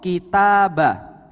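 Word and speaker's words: كتاب: Contoh, kitabah. Kitabah itu kalau ba-nya dikasih sukun bacanya jadi kitab. Diem. Kitab. Enggak pakai a-nya lagi karena sudah diem.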